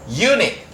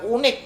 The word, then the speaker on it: unique: Biasanya biasanya jebakannya kalau di TOEFL selain university adalah Unique. Ini bacanya bukan unik tapi unique.